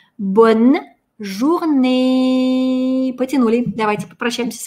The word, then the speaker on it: bonne journée: «Журней». Эту «э» мы тянем. Первое «э», точнее, последнее «э», не читается. Она конечная. А над другой «э» стоит надстрочный знак, и мы его читаем. Получается «bonne journée».